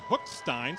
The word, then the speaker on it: Hookstein: Our pregame conversations, we were given a pronunciation for the Norwalk quarterback, but it is we got it confirmed. It is actually Hookstein, so Landon Hookstein.